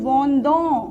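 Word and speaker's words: vendent: S nothing nothing, then आता है नू वोंदों, नू वोंदों, वू वोंदे, फाइन। एंड देन आता है अपना वोंद। वोंद क्यों पढ़ेंगे? क्योंकि ENT साइलेंट होता है।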